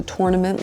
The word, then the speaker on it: tournament: When I started playing tennis, I realized people pronounce it tournament, tour, like you say tour nament.